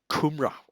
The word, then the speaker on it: kumara: piece of lamb and kumrah the sweet potatoes and they're soulless there it's spelled kumara but I but it's shortened to Cumbre or something like that yeah so you can